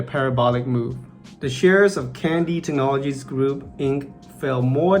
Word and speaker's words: Kandi: lastly candy stock yep it's pronounced candy not can die but from the drop